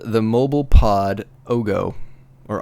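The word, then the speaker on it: Oggo: It is called the Mobile Pod Ogo. Or Ago? Oh, how do you say it? I say Ogo. I say Ogo, because it rhymes with oh no.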